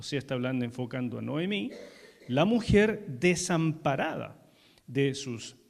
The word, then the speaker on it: Noemí: Noemí significa placentera o dulce y se pronuncia en realidad nahomi.